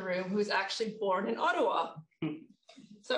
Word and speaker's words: Ottawa: i can also say that we really should pronounce ottawa mountain will say ottawa but it's ottawa because um it's actually an indigenous word ottawa